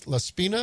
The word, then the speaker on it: Laspina: Is this Laspina? Am I pronouncing that right? That's correct.